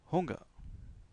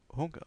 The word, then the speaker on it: Hunger: Und ich habe Hunger. Und ich habe Hunger. On prononce le H ici.